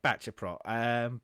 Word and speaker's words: Baceprot: part of Wikipedia, but I believe the way they've got it on here would be Baceprot. Baceprot? Okay. Yeah, Baceprot.